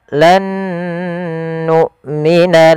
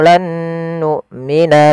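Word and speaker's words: لن نؤمن: Apabila ada nun sukun bertemu dengan huruf nun, ini kita hukumi dengan bacaan idgham bi gunnah. Cara membacanya untuk hukum tajwid berupa idgham bi gunnah, huruf nun yang pertama dimasukkan kedua dan ditahan dengan gunnahnya sepanjang 2 harokat. Maka pada lafal lan nu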